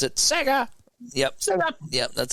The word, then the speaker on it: Sega: in the chat room 1991 you have to pronounce it Sega yep shut up yep that's how it was